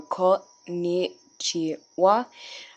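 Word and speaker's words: こんにちは: So we have to go konnichiwa, and then you can do hand symbols if you want.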